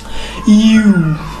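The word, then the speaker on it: ewe: এখন দেখো ইউ, এটা কি ই নাকি ইউ, অনেকে ভুল উচ্চারণ করে ই, আসলে এটা উচ্চারণটা হচ্ছে ইউ, আবার বললাম ইউ, উচ্চারণটা ইউ কিন্তু, এটা ইউ কিন্তু, এটা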